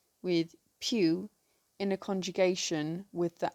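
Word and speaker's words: piw: The word for who in Cornish is pew. This is spelt P-I-W.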